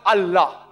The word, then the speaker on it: Allah: They write it as I-L-A. But when you pronounce it, we have to tell them, pronounce it as Allah.